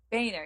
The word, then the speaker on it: Boehner: his name either bone it's that boner it's boy NER bring right Boehner yeah no love affair he had integrity you